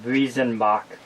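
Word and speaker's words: Weizenbock: W's are pronounced as V's in Germany. Weezenbach. Wezenbach. So it'd be like Visenbach.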